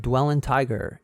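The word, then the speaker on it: dwellyntiger: y n t i g e r that's pronounced dwell in tiger anchor dot fm slash dwell tiger and also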